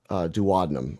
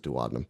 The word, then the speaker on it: duodenum: So this duct here runs into the duodenum or duodenum. I pronounce it duodenum, which is the beginning of the small intestine.